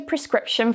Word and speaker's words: prescription: I need a prescription from my doctor. A common mispronunciation is actually to remove the R at the start.